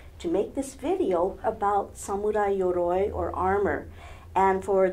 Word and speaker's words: samurai: of you please help to spread the correct pronunciation of the word samurai samurai is derived from a Japanese word which